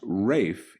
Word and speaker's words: Ralph: man sir rafe fein's name is pronounced rafe even though it's spelled ralph so if that's good